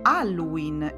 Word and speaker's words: Halloween: Anche la parola Halloween inizia con la lettera H, che si scrive, ma non ha nessun suono.